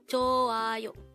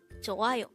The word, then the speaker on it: 좋아요: 좋아요. 좋아요. This is pronounced as a three-syllable word. The first syllable is 조 with an H, followed by an A, followed by ayo.